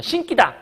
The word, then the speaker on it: 신기다: 신기다. 내가 너한테 신발을 신겼어. 이렇게 얘기할 수 있잖아. 근데 그게 아니라 이렇게 발음하면 안 되고 얘는 신기다 이렇게 그냥 발음을 해야 된다는 거죠.